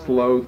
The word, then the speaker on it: sloth: too much like a some people announce it slows but I think the correct pronunciation is sloth but that's neither here